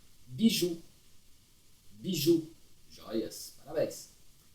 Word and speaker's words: bijou: B, I com J mais esse U acentuado vai ficar Bijou.